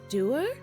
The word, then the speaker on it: dour: Doer? Is that how British people pronounce that? I've always heard it as dour. I've never heard somebody pronounce it that way. Dour, like sour. Do they say sour?